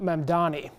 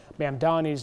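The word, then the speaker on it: Mamdani: Babel said Mandani's name was consistently mispronounced when people swapped the M and the N in his last name.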